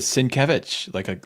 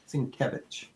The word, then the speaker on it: Sienkiewicz: The only reason I pronounce it the way I do, because Jim Shooter once did a phonetic pronunciation in the comic book. And I get it. I get it now. So how did and that's why I said Sienkiewicz, like Kevin almost.